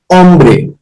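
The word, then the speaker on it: hombre: in G A now H is always silent in Spanish language okay always remember wherever H comes it will be silent in Spanish language so a ombre we do not need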